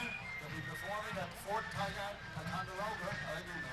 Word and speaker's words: Ticonderoga: Ticonderoga.